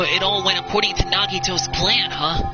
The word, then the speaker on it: Nagito: all went according to nagito's plan huh like about that was that really nagato nagito's goal accidentally pronounced his name wrong is it really okay